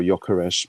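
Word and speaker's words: Gyökeres: Yokeresh. Yokeresh. There you go. That's correct pronunciation.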